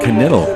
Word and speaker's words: Kniddle: He said Kniddle. All right, I would have said a silent K, but Kniddle.